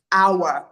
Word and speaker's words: hour: So words like air, words like hour. The H is always silent.